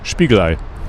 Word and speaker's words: Spiegelei: Spiegelei.